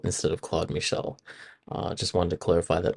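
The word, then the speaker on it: Claude-Michel: I actually pronounced Claude's name as Claude Michael instead of Claude Michel.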